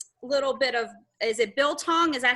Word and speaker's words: biltong: I reached out to Cory after I bought my first little bit of, is it Biltong?